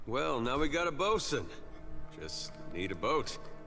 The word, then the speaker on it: boatswain: Well, now we got a bosun. Just need a boat. I always used to say boatswain. I don't... Like bosun, it's spelled differently in Borderlands. I didn't know that's how you pronounced it.